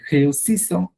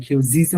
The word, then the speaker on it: réussissons: এর মানে উচ্চারণ করতে যে তখন মানে প্রবলেম পড়তে পারেন সামনে, যে খেউসিসো আপনার খেউজিসো বলে ফেলে অনেকে, এটা একটু কেয়ারফুল থাকবেন। ডবল এস থাকলে সেটা হচ্ছে ছ, একটা এস থাকলে তখন ছ, একটা এস থাকলে কোথাও, ওটা এখন এখানে নাই, খেউসিসো।